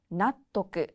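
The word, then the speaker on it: 納得: 납득은 나토크, 나토크라고 합니다.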